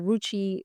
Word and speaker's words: Ruchi: I loved at the beginning that you, or before we started, that you said Ruchi rhymes with Gucci, because I feel like